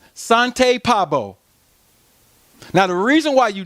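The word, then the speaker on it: Svante Pääbo: How you pronounce it is Sante Pabo.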